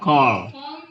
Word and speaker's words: call: Call. Ya, jadi double L, ALL seringnya dibaca apa? O.